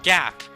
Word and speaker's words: Gaap: so kind of like you pronounce it like garb from one piece just leave the r out garb god like it's like there's a gap but then there's an